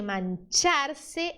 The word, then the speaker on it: mancharse: Prefieren dejar de comer antes que mancharse el pelaje. Aqui, ó, CH. Você viu CH no espanhol? Você vai fazer o som ch, ch.